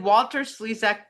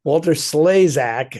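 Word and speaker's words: Walter Slezak: Um, did Walter Slesac put the word sleas into our vocabulary? No. No. No. Walter Slaysac, as it's actually pronounced.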